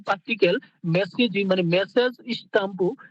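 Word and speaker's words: スタンプ: তাহলে এখানে কি সুতাম্পু বললেও হবে, আবার স্টাম্পু বললেও কিন্তু হবে, এক্সাক্ট উচ্চারণ হচ্ছে স্টাম্পু।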